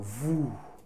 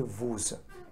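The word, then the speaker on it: vous: say you is a voo please don't say vuz it is a voo this is silent you get it it is not vuz hope you understand this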